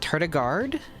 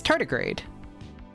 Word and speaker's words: tardigrade: Is it not tardigrade? Is it tardigard? No, it's tardigrade.